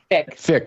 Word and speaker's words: Fyk: Fyk, is that how you pronounce his last name? Fick. Jason so Fick, Jason Fick